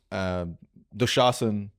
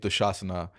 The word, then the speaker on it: Dushasana: Duryodhan, Karn, Bhishma, Dushasan, or Dushasana. I mean, I should pronounce it the way we're going to pronounce it on stage. Dushasana.